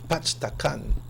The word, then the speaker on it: Pachacan: Yeah, you know the name Pachacan is not pronounced the way it's supposed to be pronounced? No, I didn't. Because I hear it used to be, the original name was Pachtacan.